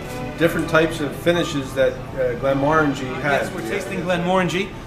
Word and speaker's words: Glenmorangie: Glenmorangie, not Glenmorangie, which is how I've referred to it for about the last 30 years that I've been in business here at Kress.